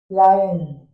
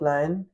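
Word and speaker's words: lien: 47 sellers लायन लयन हाउ कैन we pronounce a लियन wait pronounce wait let me check लाइन लाइन एल आई एन लाइन okay so sellers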